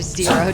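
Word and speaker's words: Xero: This guy is called Jero. Or Zero, depending on how you want to pronounce a name that begins with an X. I've always said it Jero.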